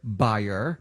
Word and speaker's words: Bayer: that's a mouthful and germans pronounce bayer buyer but we're going to stick with bayer so anyway ask bio